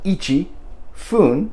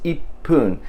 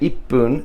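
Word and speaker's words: 一分: It wasn't ichi, fun, but it was ippun. And this is done to make the sound more smooth. It's easier to say ippun than it is to say ichi fun or ichipun.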